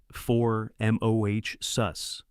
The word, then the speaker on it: Formosus: Say it like Formosus.